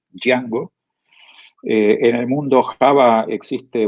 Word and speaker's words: Django: producto que se llama dyango se lo pronuncia así como si la j fueron a y django en el mundo java